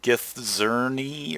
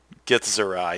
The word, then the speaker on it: Githzerai: the weirder stuff where gonna get the pronunciation wrong. Githzerni or Githzerni, whatever. Is there I? Githzerai. Yes, there we go.